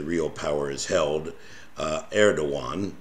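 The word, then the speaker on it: Erdoğan: power is held uh Eran which people is spelled Eragon um and this party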